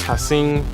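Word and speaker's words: Ha'Sean: to action fix um no one can really pronounce my first name which is hassin but it's spelled hashan so at a young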